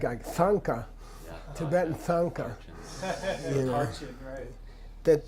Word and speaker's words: thangka: like a Sanka Tibetan thangka that the th is to indicate second column it's not to sound you don't say thank her you know and everyone